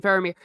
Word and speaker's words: Faramir: except very briefly with Faramir, who knows? Everyone pronounces them differently, but I use the movie pronunciation, Faramir.